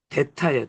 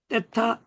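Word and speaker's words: θῆτα: 요게 바로 뭐냐 보니까 데타예요. 데타. 물론 떼타라고도 해요. 떼타, 데타 다 맞아요.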